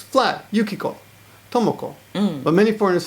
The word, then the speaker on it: Tomoko: to make a mistake okay tomoko is correct yes but they say Tomo m right and for example Yuko Yuko yeah so it's flat Yuko tomoko but many foreigners say